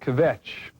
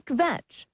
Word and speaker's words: kvetch: Find this evening that word kvetch, which we hope is close to the correct pronunciation.